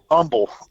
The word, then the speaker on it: Humble: okay no no no not humble humble humble humble yeah they don't pronounce that H over here yeah I was